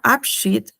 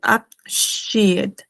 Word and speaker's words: Abschied: Acá quiero resaltar de que les había comentado que había un diptongo IE que se pronuncia como una I larga, ¿no? I larga, por ejemplo. Sí, porque acá no se pronuncia Abschied, es Abschied, der Abschied, ¿no?